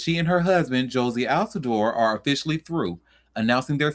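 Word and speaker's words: Jozy Altidore: And you see where it says tennis star Sloan Stevens announces split from husband Josie Alador. And if I'm saying his name wrong, I I do apologize.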